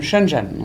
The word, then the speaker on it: Shenzhen: the south hmm now you said you're from Shenzhen is that correct does that my saying it